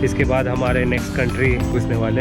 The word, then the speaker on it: Kata: डे जिसको बोलते हैं कटा बीच। I don't know time pronunciation है या नहीं बट इट स्पेल्स के टी। सो आई I would call it एस कटा।